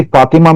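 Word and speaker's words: فاطمة: grammatical term है ये फातिमा में होती है सारा में होती है मजे की बात ये है कि एंड में ये प्रोनाउंस नहीं होती तो जब हम कहते हैं फातिमा तू नहीं कहते हम कहते हैं फातिमा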